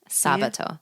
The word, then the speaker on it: sabato: me, you'll notice that some of these words are very very similar, but yet the pronunciation is quite different. Sabado. Sabato.